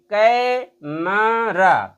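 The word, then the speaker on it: camera: ई आर ए कैरा लेकिन जब हम इसका उच्चारण करेंगे तो सबसे पहले यह इस पर हम स्ट देंगे कै पर क जोर तक खींचेंगे दो जोर तक हम इसका उच्चारण करेंगे क देर तक फिर इस पर एम ई इस पर स्ट्रेस नहीं देंगे और आर ए पे स्ट्रेस नहीं देंगे तो ये तीन सिलेबल है केवल पहले वाले पर स्ट्रेस दिया जाएगा इस पर स्ट्रेस नहीं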